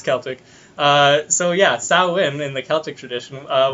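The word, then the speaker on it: Samhain: oh really and all Celtic Harvest Festival called sauwin which is spelled completely differently than how it's pronounced but that's that's how I imagine yeah it's Celtic uh so yeah Salim in the Celtic tradition uh was a day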